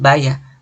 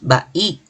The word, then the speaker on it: bahía: Igual, no decimos vaya, decimos bahía. Se puede llegar a pensar